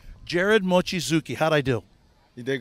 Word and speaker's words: Gered Mochizuki: Gered Mochizuki. Gered Mochizuki.